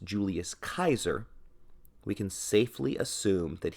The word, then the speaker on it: Julius Caesar: both originate from Julius Caesar which is properly pronounced Julius Kaiser we can safely assume that he utilized both